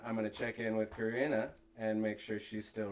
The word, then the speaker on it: Corinna: Corinna, I've been saying it right.